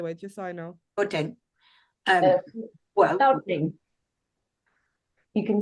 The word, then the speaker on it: Gauteng: How should I pronounce it, by the way, just so I know? Gauteng.